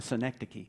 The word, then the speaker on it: synecdoche: how to pronounce synecdocly it's actually easier to say the noun which is a synecdoche which is not a city in new york by the way but it does sound like fun synecdoche what's a synecdoche a